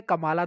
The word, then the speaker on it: Kamala: कमला दास भी बोल सकते हो, कमाला दास भी बोल सकते हो। देखो स्पेलिंग की बात है, KAMALA है। कमला होता तो ए नहीं होता ना, इसीलिए मैं कमाला बोल रहा हूँ।